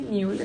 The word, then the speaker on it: Müller: Bienvenida, Judith Ozers Müller, ¿se pronuncia así? Müller.